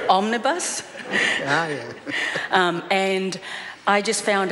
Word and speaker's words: omnibus: a statement on an omnimus belt omnimus omnibus bill and one of the things i've got to learn as to how to pronounce that term properly omnibus um and i just